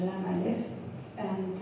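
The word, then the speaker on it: لا: this one um One Time One ligature the L and uh she she made the research and collected existing lamb eles as as vared as possible and then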